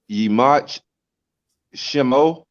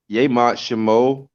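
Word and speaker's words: ימח שמו: Yimach Shemo. Yemach Shemo. It's just a different ways of pronouncing it.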